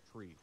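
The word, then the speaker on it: three: 3 pronounced phonetically is tree, like the thing with fucking leaves on it.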